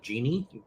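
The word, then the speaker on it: Djinn: so they I think we're going with the pronunciation of Genie but like like a Genie in a Bottle but it's spelling it the DJI nni way um he does appear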